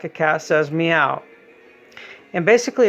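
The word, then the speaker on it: Miau: book is called meow and yes it is pronounced like a cast as meow and basically it's a very uh it's a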